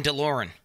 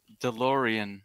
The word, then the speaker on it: DeLorean: before in the 90s you're pronouncing it wrong that's why john deloren delorean what does that remind